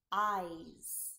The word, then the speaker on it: eyes: Our last word is eyes. Eyes. Here we have two sound, long I sound I that is spelled E-Y-E. I and s spelled S. Eyes.